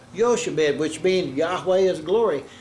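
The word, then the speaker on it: Jochebed: compound, Ichabod and Yahweh, and they say it's Yochebed, which means Yahweh is glory. The pronunciation changes when you combine words.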